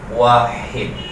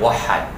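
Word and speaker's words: واحد: Wahid. Binibigkas ito ng mga marunong sa Ammiya, wahad.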